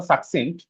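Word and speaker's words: succinct: উল্টাটা কি, সংক্ষিপ্ত, সাকসিন্ট, উচ্চারণটা সাকসিন্ট, কনসাইজ বা ব্রিফ, ঠিক আছে?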